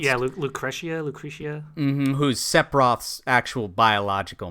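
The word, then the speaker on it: Lucrecia: Is that how it's pronounced? Yeah, Lucretia.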